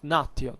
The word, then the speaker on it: natio: Consider that the Romans had the concept of natio, that is something different, or natio if you prefer the ecclesiastical pronunciation, that still it's what